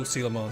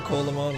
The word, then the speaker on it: Coelamon: Yeah, Sealamon you don't pronounce the O at all.